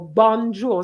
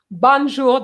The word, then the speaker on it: bonjour: sisec would say bon jour for example or bonjour something like that banjo doesn't exist bonjour does exist so pronunciation starts at an early early stage so